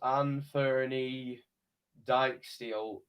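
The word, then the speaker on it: Anfernee Dijksteel: kick huddersfield town and i believe it's pronounced ann ferny dyke steel has got a yellow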